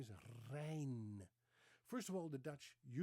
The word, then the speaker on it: Reijn: Her name is not Rain. Her name is Reijn. First of all, most Dutch people use a different R. They use a rolling R. So let me pronounce it again. Reijn.